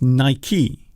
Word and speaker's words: Nike: It's Nike.